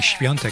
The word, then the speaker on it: Świątek: I like to say Świątek because that's really the Polish pronunciation.